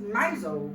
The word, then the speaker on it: Mousehole: It is actually spelt mousehole, but it is pronounced Mousehole.